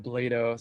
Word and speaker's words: Blado: It's Blado. Sorry about that. I should have, Rhymes with Play-Doh. Tell everyone that.